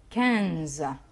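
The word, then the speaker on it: quinze: رقم 15 كانز. كانز الاي والان اللي هي موجوده في النص اللي بعد الكو اللي بقينا ننطقها ان.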